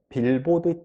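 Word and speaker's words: billboard: 말해요 빌보드 빌보드에요 빌보드 여러분 많이 들어보셨을 건데요 빌보드 차트도 있잖아요 빌보드 차트 광고판이라 그래요 광고판을 영어로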